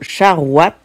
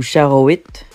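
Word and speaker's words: charoïte: Charouat ou charouit. Je dirais plutôt charouat.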